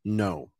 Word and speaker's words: know: KN is never pronounced as kn. It's always pronounced just as n. The K is silent. So, for example, knee, knife, and no. Never kno, never knee, never knife. Always no.